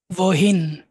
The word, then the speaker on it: wohin: wo, woher, woher, der, wohin। wohin, wohin, এই যে ডব্লিউটাকে আমরা ভি উচ্চারণ করতেছি, সবসময় ভি উচ্চারণ করবেন।